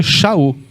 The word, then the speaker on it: Shaul: E que em hebraico a gente pronuncia Shaul.